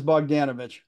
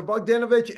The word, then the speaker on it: Bogdanovich: look behind me I've had to practice pronouncing that name yeah so many times in preparation yeah it is bogdanovich so bogdanovich and starring both Ryan and his daughter Tatum